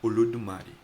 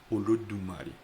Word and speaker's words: Olodumare: Os Yorubás acreditam em Deus, mas no idioma Yorubá, a palavra Deus pronuncia-se Olodumare. Olodumare.